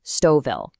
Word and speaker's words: Stouffville: And right off the bat, just so we're all on the same page, it's pronounced Stoville.